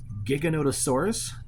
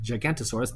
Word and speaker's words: Giganotosaurus: Next, we have the Giganotosaurus, not Gigantosaurus, the Giganotosaurus. I know a lot of reviewers were pronouncing the name wrong.